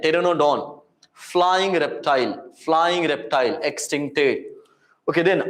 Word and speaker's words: Pteranodon: Not Pteranodon. P is silent, Pteranodon.